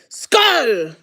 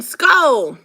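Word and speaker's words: skål: we would shout, SKAL! Is it SKAL? SKAL, like skull, but with an A, SKAL.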